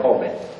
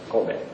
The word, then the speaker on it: Kobe: We pronounce like Kobe. Kobe.